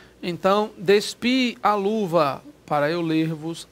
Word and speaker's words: despi: Então, despis, cortando S. Despi, vós, tal coisa. Então, despi, o agudo, aspas, o acento, né, de pronúncia forte mesmo é no I.